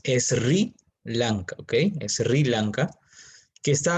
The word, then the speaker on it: Sri Lanka: de sri lanka que se escribe ese era blanca pero la pronunciación es sri lanka ok sri lanka que